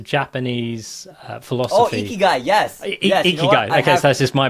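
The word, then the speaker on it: ikigai: Are you familiar with a guy? I do not know. I don't remember the name. Oh man, you should check out the guy.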